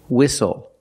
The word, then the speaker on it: whistle: We also see the silent T when you have a spelling pattern S-T-L-E. Like these words, whistle, castle, and hustle.